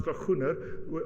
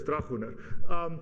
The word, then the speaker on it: Dragoner: Mercia Dragoner, which she chooses to pronounce Dragoner, but it isn't, it's Dragoner.